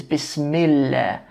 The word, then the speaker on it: Bismillah: In this case, it's Bismillah.